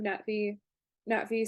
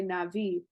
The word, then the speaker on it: Na'vi: Like, a lot of people use like the Colonel Quaritch pronunciation. We have an Yeah, indigenous population of humanoids called the Navi. yeah, a lot of people say Navi and Yeah, don't even do the glottal stop.